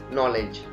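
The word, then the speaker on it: knee: ये बन गया हमारा नॉलेज. नी, नी के अंदर भी के बाद एन आया है फिर के साइलेंट है.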